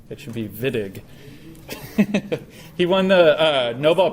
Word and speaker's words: Wittig: neat it's called the viig reaction if you hear somebody pronounce it Whig you should slap them and say no it's a v he's German it should be viig he won the uh